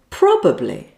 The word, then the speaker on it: probably: The correct word is probably. Probably. It means that something is very likely. Now, this pronunciation mistake is probably just down to laziness, missing out the middle syllable.